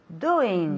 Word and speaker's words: doing: Doing. Doing. Ese sonido nasal, doing.